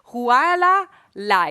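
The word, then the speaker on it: Hualālai: Yeah, that's a nice pronunciation there. Mauna Kea. And the other one is Huala Lai. Oh, just checking. Okay, so you have heard of them before. Huala Lai, yeah?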